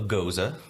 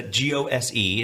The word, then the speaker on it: Gose: So Joe has poured us both a Goza. Which is spelled Old Geyser. But it's a Gose.